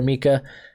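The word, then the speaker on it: Minkah: Bittersweet, but hey, I'm glad to see you doing well over there, Minka. Gotta pronounce that N.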